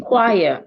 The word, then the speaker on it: choir: as an Che well sometimes C and H can also sound c as in christas as in choir it to see and sometimes